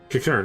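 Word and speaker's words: Qiqirn: Kikern, okay, that's how you say it.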